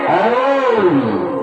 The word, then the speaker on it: ওম: ওম ওম নাই, তিনটা বললাম, আবার তিনটা বর্ণ অ রস ম, সেটা হবে ওম। এটা হচ্ছে শুদ্ধ উচ্চারণ।